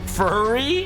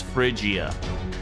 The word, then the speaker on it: Phrygia: Furry? No, it's Phrygia.